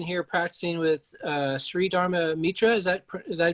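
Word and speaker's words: Dharma Mittra: studied um looking here practicing with uh sri dharma mitra is that did i pronounce that correct yep that's correct um and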